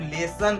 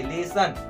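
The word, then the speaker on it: lesson: पर इसको हम लोग लेसन कहेंगे। लेसन, अ का ध्वनि निकालेंगे, ओ का ध्वनि नहीं। लेसोन इस प्रकार से नहीं, लेसन।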